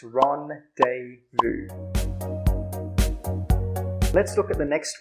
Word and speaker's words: rendezvous: So how do we pronounce this word again? It's rendezvous.